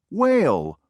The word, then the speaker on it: whale: Circle K number two whale whale w h a l e did you Circle H number three white white